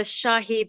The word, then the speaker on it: Shahi: You're on point with the pronunciation, Alex. The Shahi burger.